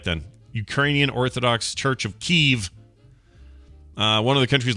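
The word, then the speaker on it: Kyiv: it was evie yeah now it's k-y-i-v that's cool oh and it's now pronounced keeve all right let's do it right then ukrainian orthodox church of keeve uh one of the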